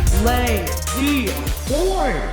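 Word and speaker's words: La-Z-Boy: Lazy boy. 3 syllables, so iconic, fit for the perfect American tagline.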